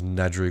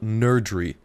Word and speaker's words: Nerdry: There's an extra R in there, so I was always kind of confused with that.